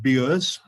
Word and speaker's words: Bures: which is bottom right, pronounced Bures, no other way.